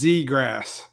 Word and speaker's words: Zegras: Oh, Witt says Zegras. All right. So it's one of those few hockey names that looks exactly like it spells.